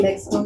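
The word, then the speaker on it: México: Say Mexico again. Mexico. Mexico. Okay. yes. And the X, yes, does make the H sound as well.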